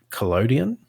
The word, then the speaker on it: collodion: I'm going to mangle this, but wet collodion, is that how you say it?